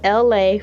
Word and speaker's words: Elay: This is me, LA, pronounced LA like the city.